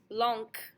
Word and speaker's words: blanc: We have blanc, our masculine form, blanc, where we hear that C. A C at the end of a word is always pronounced like a K, by the way, if you did not know that.